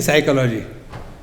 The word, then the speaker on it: psychology: is English funniest language p is silent in psychology isn't it L is